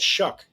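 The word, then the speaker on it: Shough: How does that How does that get shuck? I don't know. Can we pronounce it suck?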